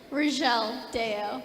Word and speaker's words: Rizchel Dayao: Or did I pronounce that correctly? Rizchel Dayao.